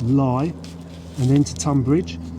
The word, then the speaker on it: Leigh: before pinshurst lie although it's spelt lee it's pronounced lie and then to tun bridge and then it